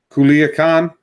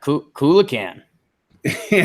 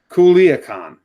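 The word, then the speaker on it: Culiacán: this word okay yeah kula can ya that's not right there's no way that's right yeah well uh we need we'll need some help on that one people someone in the chat says Culiacan I mean that's how it's spelled yeah yeah if you pronounce every letter it would be said Culiacan all right so everyone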